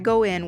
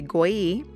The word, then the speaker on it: Goi: After I finish applying 2 coats of Vintage Carnation, I go in with this cat eye gel polish right here. This gel polish is by Goi. Yes, that is how you say their name.